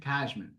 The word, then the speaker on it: Cashman: Cashman. How you pronounce it? Cashman.